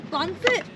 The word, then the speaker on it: pancit: It's a pancit. With the B. Pancit.